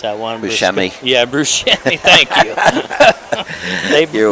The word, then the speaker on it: Buscemi: But, yeah, they brought him in here on the Burkes did, and the Weaver and I can't pronounce that one. Buscemi.